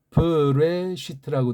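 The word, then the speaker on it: בראשית: 자, 아무튼 걔네들 발음으로 일단 뭐 설명을 하니까 이렇게 또 돼 있으니까 브레시트라고 돼 있잖아요.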